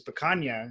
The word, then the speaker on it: picanha: steak you guys have which is picanha my pronouncing that right yes began YUM oh man